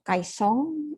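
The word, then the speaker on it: caisson: Kaison, kalau tulisannya Kaison, pembacaannya itu Kaesong ya. Dari bahasa Prancis Kaesong. Nah, jadi saya mulai materi hari ini mengenai pondasi Kaesong ya, atau Kaesong Foundation. Jadi tulisannya itu pakai N tapi dibacanya Eng, jadi Kaesong kan.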